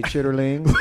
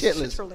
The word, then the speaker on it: chitterlings: I don't say chitlins. I say chitterlings, and so does Lissa P. Because Lissa P wrote chitterlings. Well, I mean, that's how you say it, but it's chitlins. It's chitlins.